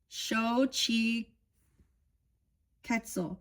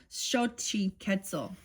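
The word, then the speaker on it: Xochiquetzal: It is pronounced shi ketzel shi ketzel sh I want I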